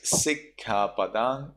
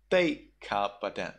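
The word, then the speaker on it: sikkhāpadaṃ: In Sri Lanka, it is Sikha Padang, but in Myanmar, it is Thaika Padang.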